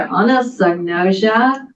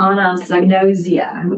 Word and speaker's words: anosognosia: really long word um there are apparently two correct pronunciations maybe more I don't know but it's either Anna sosia or Anna sosia either one is correct um so glad that